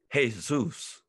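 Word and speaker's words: Jesús: i look at jesus i pronounce the j with an h sound the way you would in spanish in spanish the j is ha hey zeus so when i look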